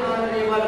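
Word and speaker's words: honourable: तीसरा हमारा एग्जाम्पल है आयन अनरेबल मैं, तो यहाँ भी जो है यज साइलेंट है उच्चारण हम करेंगे अनरेबल मैं।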